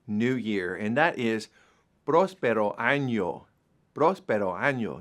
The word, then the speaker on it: próspero: And next is Happy New Year, and that is Próspero año. Próspero año. Notice the accent is on the first part of the word, the first syllable on the O.